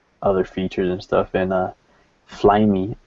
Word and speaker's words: Flyme: They introduced a bunch of other things, other features and stuff, and Flyme is how they were pronouncing it, so I guess that's how you pronounce their OS. Flyme 4.1. So there's like MPay, which